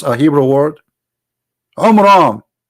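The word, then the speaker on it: Amram: the father of Moses, which is Umram, not Umran. Imram. Wrong pronunciation, wrong name. I mean, have you ever heard of a God? He cannot even pronounce a Hebrew word. Umram.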